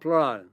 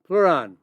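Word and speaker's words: pleuran: There's another compound called Pleran. Spelled p l e u r a n. Pleran.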